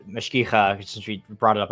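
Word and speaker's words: mashgicha: something like, hey, like mashkicha, since we brought it up already, the guardian of kosher laws. Mashkicha is how you say it in the feminine. Mashkiach is the masculine.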